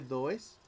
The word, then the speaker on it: does: Se escribe does, se pronuncia does.